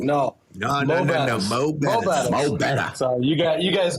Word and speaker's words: Mo'Bettahs: So many people love to start off and say, oh, more Bettahs. We're going to go to more Bettahs. No. Like, no. No. Mo Bettahs.